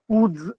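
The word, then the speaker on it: wootz: टी जेड उड्स steel अब अंग्रेज थे उनको उच्चारण आती नहीं थी ये दरअसल मेरी मातृभाषा से गई हुई शब्द है उक उक तेलुगु एज वेल एस इन कन्नाडा उसमें उक कु हो जाता है वह। अब वो उकु अंग्रेज को उच्चारण करने में दिक्कत हुई तो उसने उसको उज कर दिया।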